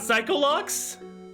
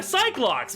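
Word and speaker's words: Psyche-Lock: how it's spelled is are they not psycho locks all right they're they're psych locks but he's calling he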